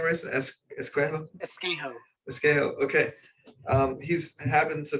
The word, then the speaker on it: Esquejo: do you say your last name race escuela escale okay um he's happened to be earl's cousin